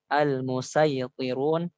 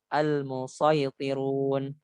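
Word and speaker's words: المصيطرون: Maka dia itu dibacanya al-musaytirun ataupun al-musaytirun, al-musaytirun. Dan di sini dikatakan al-awwal bisadi wa huwal wajhul muqaddam. Jadi yang paling dipilih oleh ulama tajwid dan qiraat adalah dengan shad, al-musaytirun, al-musaytirun, al-musaytirun, seperti itu.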